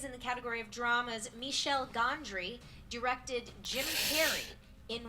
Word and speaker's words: Michel: Oh, Michel. Yeah. That is how you say it. I just always said Michelle.